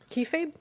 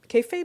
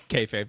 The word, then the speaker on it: kayfabe: Kefabe. Kayfabe. One more. One more again, babe. One more. I don't know how to say it. Kayfabe. Yeah, you got it right the second time.